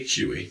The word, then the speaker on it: Huy: And I believe your last name, am I pronouncing right? Huey. Huie.